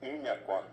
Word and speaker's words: Yñakuã: tipo agujero Añacuá. maligno. Pero en realidad esa palabra está mal pronunciada, es Iñacuá, es una corredera. Y por degradación, por degeneración, entonces pasó a llamarse ya hoy popularmente Añacuá, es Iñacuá.